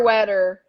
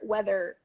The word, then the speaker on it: weather: weather sweater weather uh-huh we tend to go sweater wetter sweater but it's not yep or sweater weather no sweater weather hi we have so